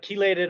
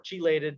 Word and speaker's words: chelated: that's not true so but chelated or chelated two ways to pronounce the same thing iron would work you